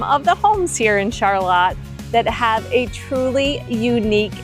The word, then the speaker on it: Charlotte: located behind some of the homes here in Charlotte that have a truly unique area.